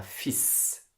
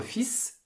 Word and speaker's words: fils: à la prononciation un fils on prononce le s notre fils s'appelle lucas il a